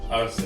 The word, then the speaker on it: Arce: Arce, yes.